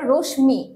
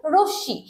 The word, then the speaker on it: রশ্মি: দেখেন এই যে রশ্মি রশ্মি এইটা কিন্তু অনেকে উচ্চারণ করে রশ্মি এটা কিন্তু একটা ভুল উচ্চারণ এটার উচ্চারণ হবে রশ্মি এইখানে এই ম ফলা যুক্ত হবার কারণে এই